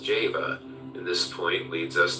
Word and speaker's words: Jehovah: the letter J whence Jehovah should be pronounced Java in this point leads